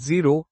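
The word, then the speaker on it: xero-: The Greek word zero pronounced zero in zerography and related terminology means what?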